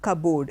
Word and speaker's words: cupboard: you don't refer here the P is silent B alone will do and the board is shortened you don't say oh I was looking for the things in the cupboard it's not cupboard it is cupboard remember